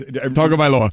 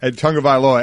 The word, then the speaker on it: Tagovailoa: Tagovailoa. Yeah, Tagovailoa. Everybody, doesn't go with Tua. Try and pronounce the last name, so they call him Tua.